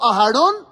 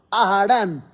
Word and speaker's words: Aharón: O Aharón, Aharán. Efrón, Efrán. Todo mal. Todo pronunciado pésimo.